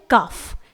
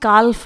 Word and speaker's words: calf: उसके बाद है काफ, CALF, इट इज काफ, इसे हम काल्फ नहीं पढ़ेंगे क्योंकि F से पहले L आया है और L को साइलेंट रखा जाता है, उसे प्रोनाउंस नहीं किया जाता है।